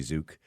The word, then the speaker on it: Tzuke: I used to like Judy Zook. I don't know if you remember Judy Zook.